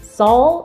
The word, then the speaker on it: Saul: name was saul hudson saul that right isn't how you pronounce that like better call saul like saul hudson who knew it